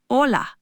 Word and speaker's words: hola: In Spanish, the letter H is always silent. You just don't pronounce it at all. This is a common point of confusion. Try hola.